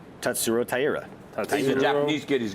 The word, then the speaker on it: Tatsuro Taira: Tatsuro Taira.